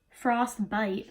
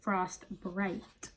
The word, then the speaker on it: Frost Bright: my god I knew I was saying it wrong I was trying to say frostbite but the shade is frost bright my correction it's this